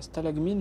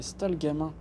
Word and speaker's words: Stalgamin: Stalagmine, mais en fait, c'est Stalgamin. D'accord. Je me gourre à chaque fois. Je ne sais pas pourquoi. L'ordonnancement des lettres me perturbe par rapport à la prononciation que je vais en faire. Stalagmine, ça ressemblerait plus à un truc Stalgamin.